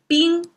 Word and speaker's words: 冰: Okay, let me pronounce it if you haven't remembered the pronunciation yet. 水, if that helps. Now ice is 冰, and we have the water sign, and then the two symbols.